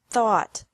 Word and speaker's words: thought: Thought. Thought. Remember that the G is silent in these verbs.